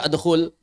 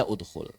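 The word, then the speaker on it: اُدْخُلْ: Enggak bisa dibaca adkhul. Maka dimunculkan hamzah wasal. Atau alif wasal boleh majazan. Boleh disebut alif wasal majazan. Sehingga dia dibaca udkhul.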